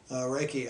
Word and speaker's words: Reiki: How do you pronounce it? Reiki.